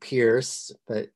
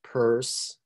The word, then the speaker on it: Peirce: I know it sounds like Pierce, or it's spelled like Pierce, but actually it's pronounced Peirce.